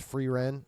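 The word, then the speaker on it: Frieren: Free is usually pronounced Free Ren.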